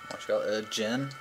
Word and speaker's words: djinn: He's actually, I do believe, supposed to be a djinn. Mm-hmm. Yeah. Spelled with a silent D.